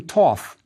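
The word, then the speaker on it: Thoth: the cartouch we have the Ibis which in ancient Egypt was pronounced jouti but the Greeks called him Toff and it's stuck in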